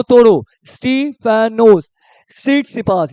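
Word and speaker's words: Tsitsipas: को तोड़ो स्टीफेनो उस सीट सपास यहां पे टी साइलेंट है स्टीफेनो उस सीट स पास एंड बिलोंग टू व्हिच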